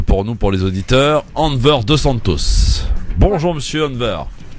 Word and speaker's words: Enver: Alors c'est Enver, hein, c'est ça? Exactement, ouais. Voilà. Enver. C'est particulier, c'est un prénom turc, très joli, très sympathique, mais très rare également, qui se prononce Enver.